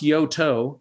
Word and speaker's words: Yoto: the UK company is it yo yeah it's pronounced Yoto and it is a UK company and doing